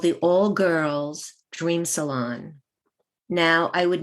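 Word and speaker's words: Grrrls: Salon gr r r r LS and it's pronounced girls cool and this ties into the statement I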